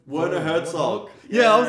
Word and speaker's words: Werner Herzog: Yeah, Werner Herzog, but I think he pronounced the W as a V.